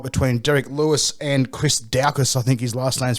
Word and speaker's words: Daukaus: On Sunday, there's a heavyweight UFC fight between Derek Lewis and Chris Daukaus, I think his last name's pronounced.